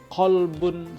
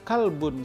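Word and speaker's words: قلب: berbeda coba qolbun Salim qolbun itu huruf qaf itu artinya qolbun itu artinya hati hati yang damai hati yang tenang hati yang tentram hati yang selamat tetapi kalau kita bacanya kalbun Salim maka kalbun itu artinya adalah anjing Salim itu nama orang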